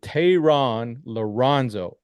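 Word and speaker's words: Thayron Liranzo: 72 is Tehran Lorenzo.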